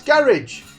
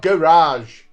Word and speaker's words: garage: at Luke in the garage everywhere that social media is sold that's garage not garage say it properly